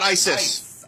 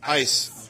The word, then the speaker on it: ICE: to the immigration authorities yeah not Isis ice but that's how it's pronounced so I recognize those